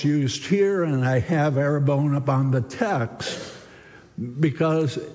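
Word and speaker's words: ἀρραβών: into Greek it's spelled in Greek and it's pronounced arabon but it's actually a Semitic word it's in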